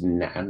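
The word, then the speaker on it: 男: So this is pronounced nan, and it means man.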